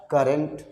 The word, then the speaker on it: current: Okay, तो इस तरह से अब मान लीजिए यहाँ दिया है CURRENT, ये क्या है, करेंट।